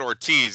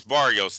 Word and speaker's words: Barrios: I said Ortiz. It's Barrios.